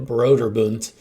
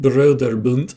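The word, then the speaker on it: Brøderbund: I don't know why I pronounce it Broderbund, since apparently it's an American company, but that's definitely German words.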